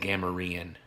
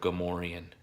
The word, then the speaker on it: Gamorrean: call it the protector the correct way to pronounce it I was saying Kamerion instead of Gamorrean AG a marine guard